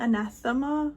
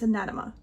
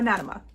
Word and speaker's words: Anatema: It's not anathema, it's anatema. Okay, so anatema. Anatema is part of these